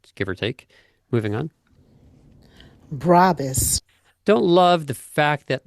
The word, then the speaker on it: Brabus: That is the German pronunciation, by the way, Brabus.